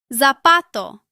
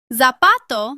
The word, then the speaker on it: zapato: In most of Latin America, Z sounds similar to S. For example, zapato. Zapato means shoe. In much of Spain, Z is pronounced like the TH sound in the English word think. Both pronunciations are correct.